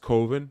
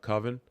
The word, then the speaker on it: Coven: a signed copy of the VHS koven it's pronounced koven not coven um yeah Mark B or something like that